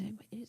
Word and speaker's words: segue: um so I'm GNA is the word segue it can't be SE it is segue I thought that was